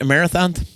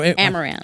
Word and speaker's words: amaranth: do you say it a marathon no amaranth amaranth amaranth it's interesting